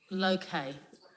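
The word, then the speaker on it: Lowcay: of laura k please l-o-w c-a-y and it's low-k we're we're having to practice this because we've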